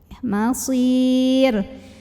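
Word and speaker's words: المصير: Kalau huruf kedua terakhirnya ya sukun. Masir. Kalau terus ro-nya kan nggak disukunkan kalau di wasol ya. Maka ro-nya tebal karena barisnya di atas.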